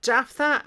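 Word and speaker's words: Jephthah: h t h a h Jaffa H now Jaffa and the gileadite was a mighty man of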